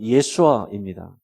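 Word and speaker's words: ישוע: 예수라는 이름도 현지에서는 실제 발음은 예수아입니다.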